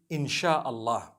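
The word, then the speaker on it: Insya Allah: language they write in Sia Allah the s-y-a they pronounce it they pronounce the s-y the way we pronounce s h so they can write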